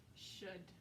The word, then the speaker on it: should: we go that's good the next one rhymes with good should so we could write with a different color but we should write with black so it's easiest to see again oh you silent l don't know why it's